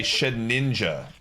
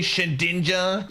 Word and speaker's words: Shedinja: And you guys all know I say Shedninja when I talk about it. And the amount of people that left a comment and were like, it's actually Shedinja, you're pronouncing it wrong, was amazingly high.